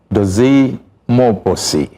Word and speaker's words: Mmobuosi: Well, we've been talking to Dozy Mmobuosi. I had to learn how to pronounce that name because you see, M-M-O-D-U-O, no, so B, M-M-O-B-U-O-S-I.